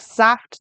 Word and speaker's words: Saft: Ich mag Saft nicht. I don't like juice. Remember the German S at the beginning sounds like a Z? Saft.